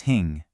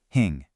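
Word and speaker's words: հինգ: Number five is hing. This one has a bit of a nasal sound right at the end. Hing.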